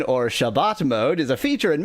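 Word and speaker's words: Shabbos: the Sabbath uh Sabbath mode also known as shabos mode ashkanazi pronunciation or Shabbat mode is a feature in many modern home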